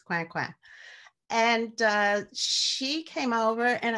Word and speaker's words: Coinquin: But the woman in this story represents an African woman whose name was Marie-Thérèse Coinquin, which looks like coin, but in French it's Coinquin.